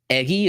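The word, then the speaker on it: Eguy: play very intrigued here another guy eggy Rosario spelled e guy u y eggy is the pronunciation I thought he was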